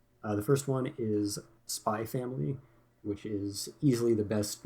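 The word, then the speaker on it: SPY×FAMILY: always go over this if there's an X in between two words it's always silent uh if it's at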